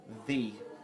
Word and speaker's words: ye: called a thorn so anything back in the day that was called Yi was actually pronounced thee because of that and I don't know